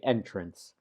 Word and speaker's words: entrance: Notice that there's no E between T and R. Entrance. We don't say entrance. We don't pronounce it entrance. We say entrance.